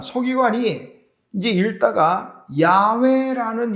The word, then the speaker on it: 야훼: 우리 공동번역 성경에는 야훼라고 나와요. 그게 이제 히브리어식 발음입니다. 하나님이 야훼예요.